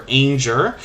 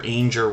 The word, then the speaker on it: Ainger: This channel was originally named Jennifer Ainger Rhymes with Danger, and that was for a couple of months while they've been in the Tuber Chat family.